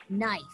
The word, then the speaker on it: knife: Knife. Knife. Knife. Knife. Knife. Knife. We spell it K-N-I-F-E, but we pronounce it knife.